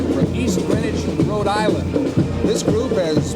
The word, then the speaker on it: Greenwich: Avenger band you know so many people pronounce their Hometown Greenwich now that really strikes a sour node in the hearts of all these kids it's Greenwich we did it right yeah we better get